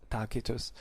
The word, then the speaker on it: Tacitus: and tacitus let's say better talk in ecclesiastical pronunciation but their real names were kaiser and takitus they talked about um the uh you know